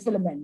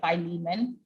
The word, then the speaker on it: Philemon: however you pronounce it so i pronounced it filament right but all the videos and like audio commentaries and stuff that i listen to say philemon so i will say